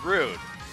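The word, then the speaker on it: Roon: So this particular kid, his name is Rune.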